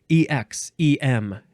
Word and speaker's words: exemplar: Exemplar. This is a good word. Exemplar. Exemplar, exemplar, or the first syllable can be ig or egg. Ig, egg.